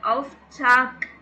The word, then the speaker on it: Auftrag: அப்படின்னு சொல்லிட்டு நல்லா பார்த்துக்கோங்க டர் ஆஃப் சாக் கே தான் சொல்லுவோம் ஆஃப் சாக் அங்கே ஸ்பெல்லிங் என்னமோ ஜி தான் போட்டிருக்காங்க பட் நம்ம ப்ரொனவுன்ஸ் பண்ணுறது கே தான் ப்ரொனவுன்ஸ் பண்ணோம் ப்ளூரலுக்கு வரும்போது ஜி தான்